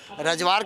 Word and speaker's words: Rajwar: रजवार के लोग आए हैं यहाँ, रजवार कैसे, वो प्रोनाउंसिएशन में फ़र्क है, RAJWAR।